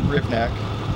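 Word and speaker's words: Hrivnak: Could you spell your last name and pronounce it for us? Sure. This is Rivnak, H-R-I, V as in Victor, N-A-K.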